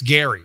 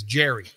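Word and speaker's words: Gerry: Gary is uh 72 I don't believe it's Gary I believe it's Jerry okay because his generation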